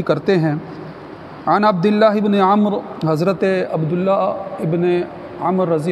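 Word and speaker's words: عمرو: اے عبداللہ ابن عمر، عمر جو ہے وہ غلط تلفظ ہے، جب عمر لکھا ہو اور آگے واو ہو تو اس کو عمر نہیں عمر پڑھتے ہیں، تو اے عبداللہ ابن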